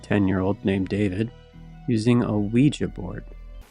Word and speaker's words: Ouija: named David using a Ouija board. It's pronounced Ouija, not Ouija. It comes from the French and German words for yes. Oui and ya. Ouija. Oui and ya. Oui and ya. It's pronounced we-ya.